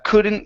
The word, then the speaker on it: couldn't: word couldn't all right here instead of C open the mouth up a little bit more for that uh sound uh couldn't even recall couldn't even